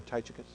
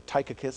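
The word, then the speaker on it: Tychicus: You remember Titicus or Tykus, I think, is probably the better way to pronounce it.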